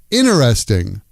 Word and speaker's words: interesting: Interesting becomes ineresting.